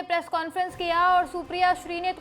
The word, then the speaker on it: सुप्रिया श्रीनेत: Expert Hardeep Puri की video share करते हुए सुप्रिया ने लिखा हरदीप पुरी जी नाम है सुप्रिया श्रीने। अगली बार सही उच्चारण कीजिएगा।